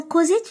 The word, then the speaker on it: causette: Alors que dans causette, il y a Z. Même s'il a la présence de S, il est entre deux voyelles. Ça se prononce Z.